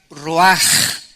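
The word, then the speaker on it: רוּחַ: Esta palabra vientos es la palabra hebrea roach, que se pronuncia roaj. La CH en el hebreo se pronuncia como J, y que es la palabra espíritus.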